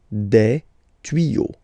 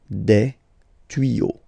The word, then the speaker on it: tuyaux: Same rule, you don't pronounce it. Des tuyaux. Okay, un tuyau, des tuyaux. So the only difference will be with the article because the word will be pronounced the same way.